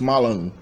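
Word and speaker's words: мала: So malon, which is to drink, notice that the final A, this final A letter of the infinitive form, is automatically nasal in Chechen. So mala is spelled mala in Chechen, but it's pronounced malon.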